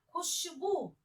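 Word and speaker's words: ख़ुशबू: ख में नुक्ते का उच्चारण आना चाहिए।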